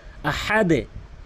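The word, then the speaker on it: أَحَدْ: এখানে দাল রয়েছে তাই নিচের দিকে ধাক্কা দিয়েছি। আহাদে আহাদে আহাদে।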